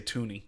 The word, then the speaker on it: Thuney: I'm going to say Tooney. I don't think it's Thuney, but I think it's Tooney.